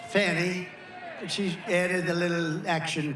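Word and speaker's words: Fani: another you had fonnie f a n i which is usually pronounced Fanny she added a little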